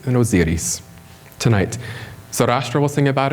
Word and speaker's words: Osiris: This is the famous image of the gods, as I pronounce auf Deutsch for you, Isis and Osiris. So listen for that from the priest, Isis and Osiris, tonight.